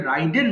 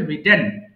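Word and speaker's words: ridden: করা রাইড road রিডেন এটা অনেকে ভুল করে রাইডেন বলে সঠিক উচ্চারণ হবে রিটেন রিং ঘন্টা বাজানো রিং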